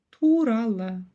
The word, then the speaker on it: туралы: по слогам и прочитали турала Ту Тура турала здесь мы видим в конце букву Ы в отличие от русской версии буква Ы ского языка читается очень-очень коротко лишь намёк на её существование турала погнали Дальше слово